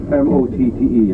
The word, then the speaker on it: motte: mound, it's called motte, M-O-T-T-E. I suppose you could pronounce it motte, and I'm not quite sure which way to go with it, but motte we call it.